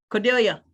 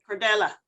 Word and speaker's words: Cordella: Cordelia, did I pronounce that right? Cordella, thank you.